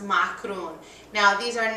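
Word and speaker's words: معكرون: making Lebanese macroons uh in Arabic it's pronounced macaron now these are not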